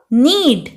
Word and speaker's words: knead: Next है आपका नीड, जब भी इंग्लिश लैंग्वेज में के और एन साथ में आता है तो के जो होता है वो साइलेंट होता है। साइलेंट कैरेक्टर वो कैरेक्टर होते हैं जो स्पेलिंग में तो होते हैं लेकिन उनको प्रोनाउंस नहीं किया जाता, ठीक है। तो इसका बोलेंगे हम नीड, KNEAD, नीड।